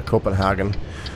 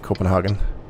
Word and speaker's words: Copenhagen: a turn here now this is uh copenhagen that would be the english pronunciation i believe copenhagen um and believe we're